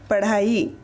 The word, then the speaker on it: पढ़ाई: अगला शब्द है पढ़ाई। अभी पढ़ाई इस शब्द में से ढ़ के नीचे अगर नुक्ता हटा देते हैं तो शब्द का उच्चारण कैसे होगा? देखो, पढ़ाई। तो देखो, यहाँ भी शब्द भी गलत हो गया और उच्चारण भी गलत हो गया।